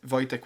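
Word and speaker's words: Wojtek: So you have Voyche which is formal and Voytech which is informal but not necessarily the short. But since what people struggle with with my name is how to pronounce J and how to pronounce W by shortening the other part and just giving.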